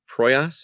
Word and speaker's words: Proyas: I went with Alex Proyas. Is I'm pronouncing that correctly?